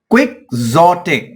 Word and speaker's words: quixotic: Quixotic. Quixotic. X के दो sound आएंगे. पहले क्विक के साथ C का साउंड आएगा क्विक और फिर उसके बाद Z का साउंड आएगा जोटिक. Quixotic.